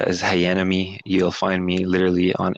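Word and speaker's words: Hayanomie: talk and YouTube yeah h-a-y-a-n-o-m-i-e it's like hayan and enemy you're on Tick Tock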